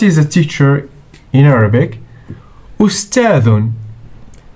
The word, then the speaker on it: أستاذ: Ustadhun. Alif plus sin plus ta plus alif plus dhal equals o s ta dhun.